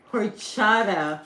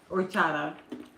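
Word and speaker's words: horchata: use it again try horada Mexican spec says what what what's a that's what it's called h o r c h a t a horada orada do you not pronounce the h what would that be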